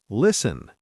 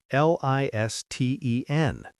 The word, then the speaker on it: listen: When T comes between S and another consonant, it often disappears.